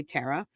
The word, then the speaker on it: Tara: I say Tara, so it's good to know I'm doing it right, though it may have a slight New England accent occasionally.